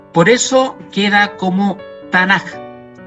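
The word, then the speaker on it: תנ״ך: La letra Kaf, que sería esta letra, se pronuncia suave como J, no como K. Por eso queda como Tanaj y no Tanaj.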